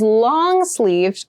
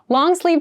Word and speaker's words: long sleeved: we consider long and make sure you clearly pronounce that D sound at the end so not long sleeve but long sleeved shirt long sleeved shirts are good for